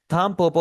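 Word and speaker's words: たんぽぽ: थमपोपो हम इसे प्रोनाउंस करेंगे। थमपोपो। यहां पर आपका क्वेश्चन हो सकता है कि यहां पर मैं एन को एम में क्यों कन्वर्ट कर रहा हूं?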